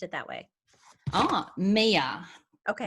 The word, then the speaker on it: Mia: Mia. Okay. That's how we pronounce Mia, M-I-A.